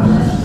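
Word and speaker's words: إشمام: Ismam bacanya ismam. Gimana baca ismamnya? Enggak monyong bahasanya. Kalau monyong begini ke depan mulutnya.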